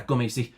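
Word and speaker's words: gomesi: The other one is gumi, I think it is. Let's have a quick look. G O M E S I. Um yeah, gumi.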